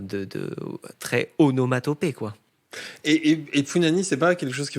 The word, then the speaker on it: Punani: Punani, comme un pou et nani.